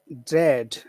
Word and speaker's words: dread: no, it's not the same as great. Great is two sounds. Great is great. It's two sounds. This is just one very simple sound. It's just eh. So dread. Yeah, Dread. but just to make it a little bit longer because of the D.